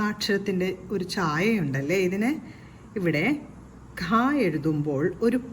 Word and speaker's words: ഖ: അടുത്ത അക്ഷരമായ ഈ ഒരു അക്ഷരത്തിൽ ക എന്ന വ്യഞ്ജനാക്ഷരത്തോടൊപ്പം ഹ എന്ന ശബ്ദമാണ് കേൾക്കേണ്ടത്. ക പ്ലസ് ഹ, ഖ. ഖ എങ്ങനെ എഴുതാമെന്ന് നോക്കാം. നമ്മൾ വാ എന്ന് എഴുതുന്ന അക്ഷരത്തിന്റെ ഒരു ഛായയുണ്ടല്ലേ ഇതിന്. ഇവിടെ ഖ എഴുതുമ്പോൾ ഒരു 0 എഴുതി വാ എന്ന അക്ഷരം പോലെ വരയ്ക്കണം.